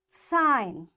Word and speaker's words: sign: Because the rule is when you find N after G, you will not say this G and directly you pronounce the sound N.